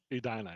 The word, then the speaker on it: Edina: I'm Pennsylvania German, so we're known to butcher pronunciation, so I apologize. So it's Edina? Edina, yes.